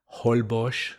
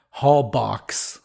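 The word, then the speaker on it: Holbox: the northern Yucatan Peninsula hbos the way they say it in what is that Mayan right I think so yeah so Hall boox the way the Americans say it but hbos and you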